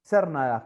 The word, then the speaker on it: Cernadas: Cernadas. ¿Cómo se pronuncia, Perfecto.